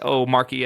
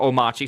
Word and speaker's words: Omarchy: people may not be familiar what or what Omarque is or "Omarque", sorry.